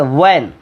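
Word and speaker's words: when: এটা হোয়েন না, এটা ওয়েন। এটা হোয়ার না, এটা ওয়ার।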